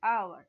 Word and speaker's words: hour: What about hour? And we used before hour n. Though the word starts with H, the consonant H, but we pronounced it like our a sound.